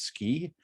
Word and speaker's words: SCI: computing and imaging institute sci which we pronounce ski as in ski in utah so we're the ski